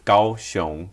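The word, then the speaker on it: Kaohsiung: japanese tourists are coming to the city of gaoshong thinking they're going to takaow city yes that's correct that's just now final question for you when do you think gaoshong uh became gauchon like the actual chinese pronunciation became the official way to say the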